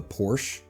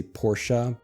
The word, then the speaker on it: Porsche: Obviously, we have the Porsche. Some Americans like to be more fancy and actually say Porsche, but most people just say Porsche.